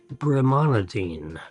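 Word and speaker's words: brimonidine: That is uh bromanadine. Bremanadine. That's how you would pronounce that.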